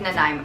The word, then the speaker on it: Nanaimo: It is Nanaimo. Nanaimo. But it's spelled like Nana-imo.